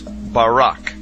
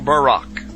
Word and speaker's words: Barak: the Hebrew word is Barak so lightning or a flash of light in Hebrew is pronounced Barak or Barack now consider this amazing